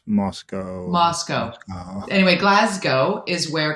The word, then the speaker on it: Moscow: back a long time there are no cows in glasgow or moscow it's not moscow it's not glasgow i'm trying to remember how i pronounce moscow moscow anyway glasgow is